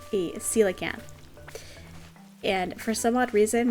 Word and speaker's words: coelacanth: try to catch the coelacanth. And I think I've maybe touched on it very briefly before. As kids, my friends and I, we always pronounced it koala camp.